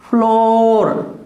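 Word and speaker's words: floor: जाता है तो ये बोला नहीं जाता, डोर, फ्लोर, देखिए फे, ले, ओ और लगाना चाहो तो ऊपर छोटा सा फ्लोर, क्लियर।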